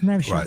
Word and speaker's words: Nevşah: Nevşah, first of all, did I get the pronunciation right? Yes, Nevşah.